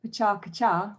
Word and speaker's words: PechaKucha: And it was called, I should say it properly, Pecha Kuchar, which is how you more or less say it in Japanese.